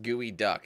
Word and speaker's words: geoduck: is the Seattle specialty it's actually pronounced gooey duck and of course it's not related to The Birds thank you for spelling